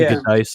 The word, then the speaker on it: Giudice: We had some guy who said he spent time in New Jersey, and it's pronounced Giudice, so it's and they were correct. It is a New Jersey kind of sounding name.